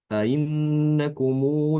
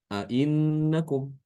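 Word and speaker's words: أئنكم: Jadi nanti bacanya ainnakumu lata'tunar rijala syahwatan min dunin nisa, seperti itu. Ainnakum ya. Ainnakum. Tidak boleh dibaca innakum. Salah.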